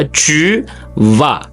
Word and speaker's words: tu vas: நாங்கள் ஃப்ரெஞ்சில் வந்து அந்த கடைசி எழுத்து எப்போவுமே நாங்கள் கூடுதலாக உச்சரிக்க மாட்டோம். அப்போ அந்த எஸ் வந்து மௌனமாக தான் வரும். அப்போ tu vas என்று சொல்கிறேன்.